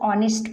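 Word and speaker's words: honest: है ना तो नहीं हम इसको नेस्ट नहीं पढ़ते हम इसको ऑनेस्ट पढ़ते हैं तो ये जो होता है यच साइलेंट होता है तो इसको हम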